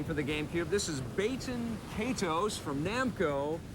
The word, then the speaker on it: Baten Kaitos: not Baten Kaitos, it's Baten Kaitos.